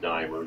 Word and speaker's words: Diemer: do is just if you just it's dier it's pronounced dier d i m e r and you